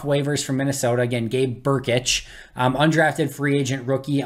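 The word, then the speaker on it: Brkic: from the minnesota vikings that is gabe burkich so b-u-r-k-i-t-c-h is the pronunciation b r k i c is the spelling uh but they claim them off waivers from minnesota again gabe burkich um undrafted free agent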